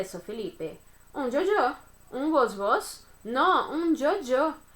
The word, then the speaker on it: yo-yo: Na Argentina, eles vão pronunciar, né, de uma forma diferente. Mas eu pronuncio Jojo, ok?